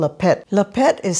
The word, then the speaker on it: laphet: one is a traditional one and it's called a pet la pet is spelled l-a-p-h-e-t and what it is it's fermented